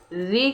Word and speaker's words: ऋ: ऋ का वर्तमान उच्चारण री के जैसे होने लगा है। र प्लस ई उच्चारण जो होता है री कहते हैं, तथा इसका उच्चारण करते समय जो हमारी जिह्वा होती है वो मूर्धा को स्पर्श करती है, अतः ये शुद्ध स्वर नहीं है। री का जो उच्चारण होता है वो शुद्ध तरीके से नहीं होता है, री कह देते हैं।